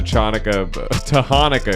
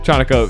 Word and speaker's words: Chanukah: good Donald Trump impersonator to show up to Hanukkah, excuse me. No. Pronounced that wrong. Yeah. You got that. Chanukah.